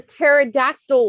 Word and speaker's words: pterodactyl: teaser the p shot it's a silent p there's actually oh the pterodactyl one yeah exactly the puzzle